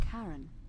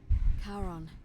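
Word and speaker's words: Charon: It's just as you described it, only your pronunciation is a little off. The name you heard wasn't Karen. It was C H A R O N as in the fairyman of the dead. Kon, who in exchange for the right coin helps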